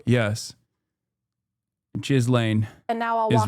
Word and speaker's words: Ghislaine: Wait, I've been saying jizz laying around my parents this whole time because the way you're pronouncing it is, you're telling me is wrong? Yes. Jizz lane.